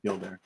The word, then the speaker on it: Gildair: You pronounce the two words that make up the name. Problem solved. Spell that. Gild Aire. Yeah, Gildair.